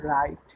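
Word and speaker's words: write: প্রথম ওয়ার্ডটিকে দেখুন রাইট, যেখানে ডাব্লু এর ঠিক পরপরই আর ওয়ার্ডটি আছে, আমি বলেছি ডাব্লুর পর যদি এইচ বা আর থাকে তাহলে তার উচ্চারণ করবো না আমরা।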